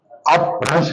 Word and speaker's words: اپبھرنش: اب وہ جو پراکرتی تھی وہ پھر بعد میں بھرنش کے روپ میں، یہ بھرنش بعض لوگ اس کو پڑھتے ہیں، درست تلفظ اس کا بھرنش، اپبھرنش بھی سنسکرت کے مقابلے میں عوامی بولنے کے لیے یہ بھی بہت ساری تھی.